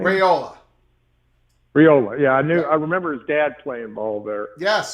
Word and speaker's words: Raiola: Is it Rafulio or the quarterback transfer or the young man at University of Nebraska? How do you pronounce his name? Raiola.